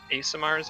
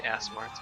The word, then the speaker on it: Aasimar: There are different types of Aasimars. I always say this name wrong. I always say Aasimar. It's Aasimar. He is the Aasimar of protection.